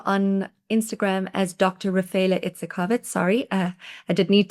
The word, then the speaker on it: Itzikowitz: So, my surname is basically unpronounceable. Um It's Itzkovitz.